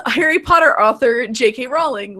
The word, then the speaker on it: Rowling: Rowling, which, incidentally, rhymes with bowling, about the pronunciation of Lord Voldemort, the blockbuster series creepy villain.